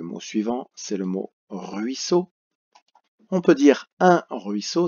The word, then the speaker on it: ruisseau: Ruisseau, 2 syllabes. Rui, R-U-I, so. 2 S, la consonne S est doublée parce qu'elle est entre le I et le E. Donc on est obligé de la doubler pour que ça fasse ce. Et ce mot termine par le O qui s'écrit en 3 lettres, E-A-U.